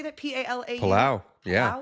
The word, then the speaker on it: Palau: P-A-L-A-U?